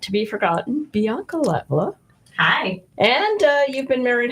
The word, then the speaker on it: Latvala: Well, the first one that you said was the Finnish pronunciation. Latvala? Finnish, so that's the correct one. Well, yeah, but the Latvala. second one is the way that everyone says it, Okay. including myself.